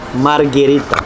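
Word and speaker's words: Margherita: Правильно вимовляти Маргарита.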